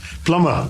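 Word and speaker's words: plumber: just one more uh p-l-u-m-b-e-r plummer plummer though these are trivial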